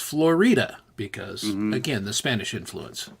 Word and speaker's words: Florida: Durango and it's spelled like Florida but it's pronounced Florida because again the Spanish influence you know which